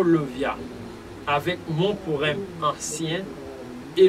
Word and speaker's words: Lauviah: jusqu'à 20 juin 2023, chérubin et génie, c'est Levia, qui s'écrit L-E-V-I-A-H.